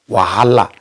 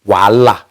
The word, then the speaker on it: Wahala: in the not on the spelling and the pronunciation to people they address it as wahala but is voila i keep correcting people and at the point